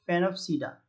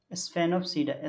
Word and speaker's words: Sphenopsida: फेनोप्सीडा, स्फेनोप्सीडा, SPHENOPSIDA, स्फेनोप्सीडा या फिनोप्सीडा कह सकते हो, ठीक है, एस साइलेंट भी कर सकते हो।